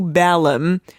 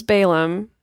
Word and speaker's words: Balaam: lot of words Baylor I am correcting you because this is a famous story and everyone pronounces those Balaam and I want people to be able to recognize the story everyone does everyone does